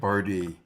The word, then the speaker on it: Barde: rhymes with party, because my last name is Barde.